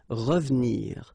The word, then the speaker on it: revenir: So you've got re and then ve and nir, but then clearly you don't pronounce it. So you get revenir, revenir.